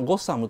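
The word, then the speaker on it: Gotham: イギリスにあ、ある村の名前で、あのゴッサムってゴトムっていうのかな ? 本当の発音はゴッサムというのがあってさ。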